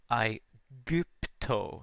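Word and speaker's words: Aegypto: second line you see i gupto the g is pronounced like a hard ga sound also in igupto you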